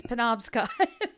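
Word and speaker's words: Penobscot: But it was audiobooks listeners will know it's Ponobscot.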